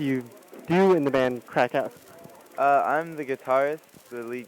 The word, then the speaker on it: Craic Haus: Bikini Sports Bar with Craig House. Is that how you say it? It's actually Crack House.